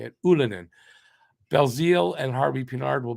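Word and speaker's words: Ylönen: Ulinen.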